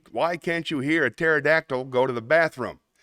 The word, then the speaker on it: pterodactyl: can't you hear a pterodactyl go to the bathroom because the p is silent I like that one